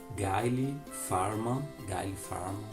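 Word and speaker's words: Gayle Forman: Gente, temos também esse livro aqui, se chama Quando Eu Partir, da autora Gayle Farman, é assim a pronúncia dele.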